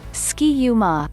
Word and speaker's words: Ski-U-Mah: true definition beyond that the ma at the end of ski-u is only there so then it rhymes with the third syllable of the other third syllables in the cheer namely ra and ta even after multiple revisions